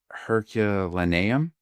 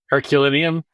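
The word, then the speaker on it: Herculaneum: It actually started with the Romans and the Romans would have beach villas in Pompei and uh Hercua Hercuanium. Did I get that right? Herculinium.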